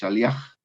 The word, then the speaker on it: Aliaga: la ayudó entonces y termina con el sonido de la j aliaga y pedía la pastoral